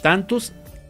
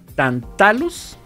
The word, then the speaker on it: Tantalus: por forken and Pain tantus creo que tantus absorbió eh Perdón tatus tat deja pronunciarlo bien porque está medio complicado tantalus media tantalus absorbió a